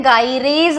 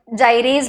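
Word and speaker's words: gyrase: इसको एक और नाम दिया गया है, गाइरेज बोलते हैं, कुछ लोग इसको जाइरेज भी प्रोनाउंस करते हैं, गाइरेज, जाइरेज, जो भी ठीक लगे, ठीक है।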